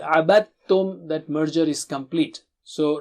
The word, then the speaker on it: عَبَدْتُمْ: You don't pronounce dal here. عَبَدْتُمْ.